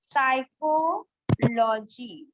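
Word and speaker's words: psychology: पी में जैसे साइकोलॉजी है ना, यहाँ पर जो पी है वो साइलेंट है।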